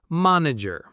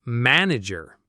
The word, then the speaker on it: manager: A learner might pronounce that word with a less distinct vowel, like manager. But an American will say manager with that very specific ah sound.